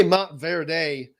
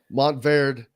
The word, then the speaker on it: Montverde: there we go because not to say mount verde that's just sounds like country just putting an extra uh syllable emphasis yeah that that is not necessary montvard it's a part of